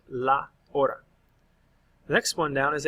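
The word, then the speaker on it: hora: the LA in front remember the H is silent La Ora the next one down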